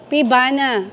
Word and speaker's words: Pievana: Paano i-pronounce 'yan? Ayan, tatanungin niya daw. Fivana, Fana. Fivana, Pibana.